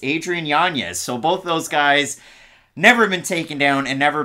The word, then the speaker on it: Yanez: tied there with Adrian it's pronounced janeez Adrian Yanez so both those guys